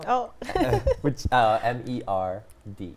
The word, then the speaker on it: merde: How do you spell it? Oh, which M E R D E merd.